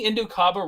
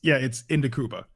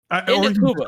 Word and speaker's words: Indukuba: But I agree with am I saying Indukaba wrong? Is it how do I pronounce it? I heard Goresh say it all the time. It's Indukuba. Indukuba.